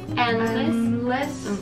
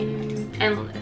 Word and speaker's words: endless: Endless Endless、Endless D は発音しなくていいんだ。うん、しなくていい。 Endless Endless Endless Endless Endless。